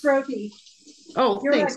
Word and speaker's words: roti: R-O-T-I. My sister would know. It's roti.